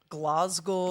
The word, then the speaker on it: Glasgow: I believe like- it's pronounced Glasgow.